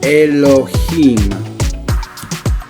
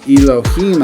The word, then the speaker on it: Elohim: Now if I was to look at the word Elohim again, Elohim, you notice the I has an E sound.